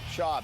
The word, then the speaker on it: Schwab: Schwab.